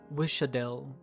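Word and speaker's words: Wiš'adel: Pronouncing it like it's like a normal S. Oh, like Sha, then Wisha. I want the flames to spread so far you can even see it from Londinium. Wishadel.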